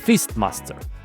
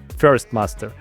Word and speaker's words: fistmaster: the new class is fistmaster, also called kanssung in Korea. I hope I pronounce it properly. And yes, fistmaster. Fist master, not first master. Anyway, fist first sounds like an old teacher.